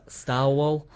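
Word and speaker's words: Starwhal: Star Wall. Like it's like narwhal, but it's spelled with star instead.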